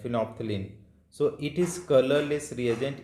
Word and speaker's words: phenolphthalein: Phenolphthalein, no, L is silent, phenolphthalein.